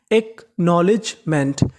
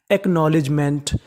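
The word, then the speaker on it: acknowledgement: अगर आपको इंग्लिश में एन से पहले के लिखा मिले तो आपको के का उच्चारण नहीं करना होता।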